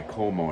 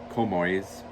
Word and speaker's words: Comoy's: but I have my Como I said call me sorry komores I think that's how you say it so I have my